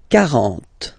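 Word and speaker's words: quarante: 40. Okay, so same rule as previously as for 4, okay? K, 40, 40.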